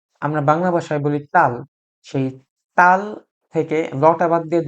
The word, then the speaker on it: ث: একদম ক্ষীণ আওয়াজ হবে। সা। এই হরফের উচ্চারণটা ইংরেজি কিংবা বাংলা ভাষায় নেই। সেজন্যে এই হরফটা একটু এক্সেপশনাল।